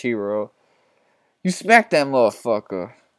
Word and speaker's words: gyro: for a month looking gyro or a hero actually that's pronounced hero you smack that little